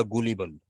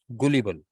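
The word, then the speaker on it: gullible: कहते हैं गलिबल या गुलिबल। ठीक है। क्या कहते हैं? गुलिबल, GU, हाँ, इसका सही प्रोनाउंसिएशन गलिबल भी है और गुलिबल भी है, और दोनों मौजूद हैं डिक्शनरी में, लेकिन ज्यादा जो, हाँ,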